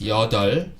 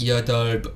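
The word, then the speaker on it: 여덟: said that yours hot just be careful of this pronunciation we read this your doll not your job or your top just remove consonant beer when pronouncing the other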